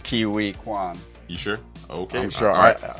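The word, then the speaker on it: Quan: Kiwi Kwan.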